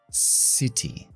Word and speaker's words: city: La C siempre se pronuncia como una S en inglés cuando lleva después una I, una E o una Y. Como en estos ejemplos. Ciudad. City.